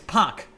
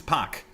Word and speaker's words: Park: and by the way it's park not park there's no r in there it's just put it there by koreans to make it easier to remember it pronounced by for americans but originally it's pack with no r whatsoever just saying a little bit